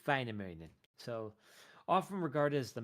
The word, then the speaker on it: Väinämöinen: The umlauted A is like like apple. And of course, umlauted O has more like an I'm guessing, kind of sound. So it's like Väinämöinen, or something like that. I'm butchering it really bad. In Finnish, the accenting is always on the first syllable. So it would not be like Väinämöinen or whatever. It is Väinämöinen.